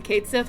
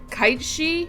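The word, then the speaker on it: Cait Sith: mascot character and also I think I've been pronouncing Kat Sith wrong for like 8,000 years CU apparently it's like kitei or something like that cuz it's like a g it's it's a g like word um yeah but I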